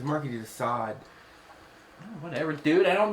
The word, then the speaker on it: Marquis de Sade: You said Marquis. It's Marquis de Sade.